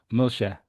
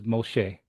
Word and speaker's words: Moshe: is the name of Moses in Yemenite just pronounced Moshe Moshe where in modern Hebrew was Moshe for example um so that's a the dialectual differences is uh to me are very interesting.